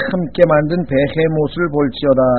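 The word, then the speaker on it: Behemoth: 욥기 40장 15절에 보시면은요, 거기 보시면 이제 내가 너를 만들 때 함께 만든 베헤못을 볼지어다. 이 베헤못이라고 하는 단어는 영어 단어는 아닙니다. 비히못이라고 영어로는 발음을 하는데 이 비히못이라고 하는 이 짐승은 히브리어입니다.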